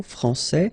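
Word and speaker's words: français: rule electrons okay so francais here you get this final s that you don't pronounce so francais and then when you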